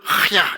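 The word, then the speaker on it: חַיָּה: 거요 한번 따라합시다 하야 원래 발음은 하야 이렇게 발음이 됩니다 뭐냐하면 이게 원래는 호흡이란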